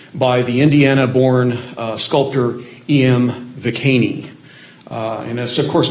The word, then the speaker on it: Viquesney: Viquesney. And that's, of course, not the way that's going to sound in French, but that's the way that the name is still pronounced with an Indiana twang in the area around Spencer where he grew up.